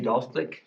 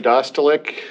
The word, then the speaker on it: Dostalik: I would ask for the, representative of Mid-American Energy or Dalstick to come forward. Hi, my name is Dostalik. Last name is spelled D-O-S-T-A-L-I-K.